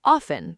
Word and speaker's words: often: I often go. The T? Not there. Often. It's one of those weird English things where the letters lie to you. You see a T, but you don't pronounce it.